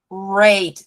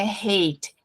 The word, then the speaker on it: rate: Essa palavrinha ali também, gente, heart rate, não é hate. Hate é ódio, é com H, é com R, é R, tipo um leãozinho fazendo R. Então, rate, heart rate.